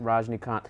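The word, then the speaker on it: Rajinikanth: Raj contour what had we pronounce his name howdy prawns his name I think it's Verizon account Rajnikant we didn't grow up with him so we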